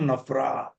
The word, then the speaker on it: NFRA: Now why I'm saying such companies which are covered by Nafra also should inform Nafra.